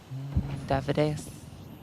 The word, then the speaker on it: Davideus: Davideus. I wanted to say that the whole time. It's just in my head. It's how I remember the pronunciation. Like Amadeus.